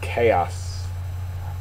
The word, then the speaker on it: chaos: Next word is chaos. Chaos is a noun, first syllable, accented, great confusion or disorder.